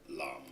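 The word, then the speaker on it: 南: Listen to Nam, South as an example. Lam. Oh, lam. Lam.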